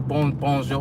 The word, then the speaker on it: bonjour: You said, you said usually foreign people don't know how to pronounce the French R. Like, merci. Is that what you mean? Does that even have an R in it? Or bonjour. Bonjour. They say R or W.